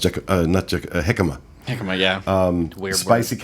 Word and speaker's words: jicama: How's it pronounced? Jicama.